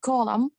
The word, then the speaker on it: column: I saw Dory okay the word uh column c-o-l-u-m-n-d-n at the end is not pronounced here it is silent letter very good sorry very